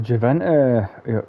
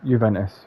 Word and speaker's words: Juventus: It's so I've gone to Juventus. Sorry, Juventus. But I said Juventus because I like to pronounce the J.